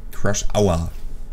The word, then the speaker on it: Crush Hour: Crush Hour. So spricht man das aus. Weil Crush ist ja zusammen crashen. Das heißt nicht Crash, sondern Crush. Und dann sagt man Hour.